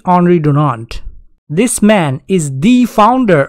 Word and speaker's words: Henri Dunant: First of all, he is Swiss, so the pronunciation of his name can be Henri Dunant.